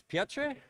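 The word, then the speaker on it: Piotr: my head so uh I just got a word from the studio that uh it's pronounced piot so uh uh thank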